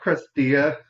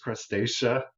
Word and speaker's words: Crustacea: I was calling it crustea. I said it's the crustea. And Richard kept saying, how do you spell it? How do you spell it? This morning he was like, do you think maybe it's crustacea? I was like, whatever. So it is Wedgwood crustacea line.